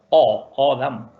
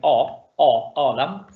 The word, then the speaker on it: Adam: Odam. Adam. Habíamos dicho que la O es una O cerrada, no es una A abierta, sino que Odam.